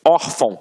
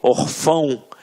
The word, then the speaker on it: órfão: Até mesmo porque se fosse um acento, a gente não ia falar órfão. A gente ia falar o quê? Orfão. E não é o caso. Então aqui, reparem que a sílaba tônica está na penúltima sílaba.